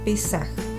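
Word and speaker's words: פסח: la sangre del cordero en el hebreo Pascua se pronuncia pesaj y significa paso es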